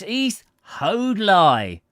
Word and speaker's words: East Hoathly: we should have imagined, owing to the curious local pronunciation of the names of places. "East Hoathly," he repeated in reply to our query. "There bain't no such place hereabouts, leastwise, I've never heard it tell it." Then, with sudden enlightenment, he exclaimed, "Maybe it's East Hoadley you want," giving a very decided emphasis on the last syllable.